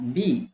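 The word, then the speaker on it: بِ: Dia bacanya bi ya. Bacanya bi, lihat, tidak akan berubah menjadi ba atau bu, sehingga dia mabni, tetap dia mabni.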